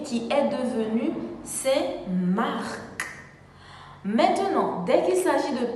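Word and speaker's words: Saint-Marc: de la deuxième ville de l'artibonite mendient c'est marc exemple c'est mark était un évangéliste la ville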